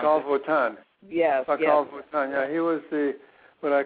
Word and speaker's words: Pacal Votan: How do you pronounce Pacal it? Votan. Yes. Pacal Votan.